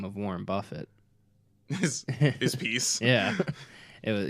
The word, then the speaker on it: Buffett: Okay, I always thought that it was the real last name of Warren Buffett.